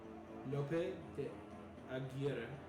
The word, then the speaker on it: Lope de Aguirre: How would you pronounce it here? I haven't seen it spelled. Lope de Aguirre. Aguirre. The Conquistador who tried to find El Dorado. Historically. Aguirre. I get it.